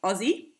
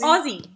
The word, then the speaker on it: Aussie: I love it how Americans say Aussie. How is it supposed to be said? Okay, it's Aussie. Like Aussie. Yeah, pretend like it's an O instead of an A. So pretend it's O-Z-Z-I-E. Aussie.